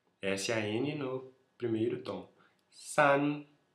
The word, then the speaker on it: 三: San. S-A-N no primeiro tom. San.